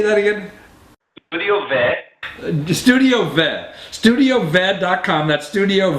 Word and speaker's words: Studio Ve: Studio Ve.